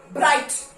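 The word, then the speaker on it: bright: Okay, ब्राइट, BRIGH silent T, ब्राइट।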